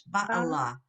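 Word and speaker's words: בַּעְלָהּ: Echad ba bala It's actually, this is a weird one. It's ba'ala. ba Ba'ala. Yeah. oh ba It's a very unusual. That rarely occurs.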